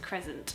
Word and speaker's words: crescent: I was quite quite surprised that it was pronounced Cresent and not Crescent cuz I just thought that